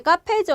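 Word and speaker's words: カフェ: 자, 그 다음에 이제 카페죠, 여러분. 카페는 우리가 그대로 어떻게 들어가요? 카에다가 후에다가 에 들어서 카페 이렇게 발음이 되는 거죠.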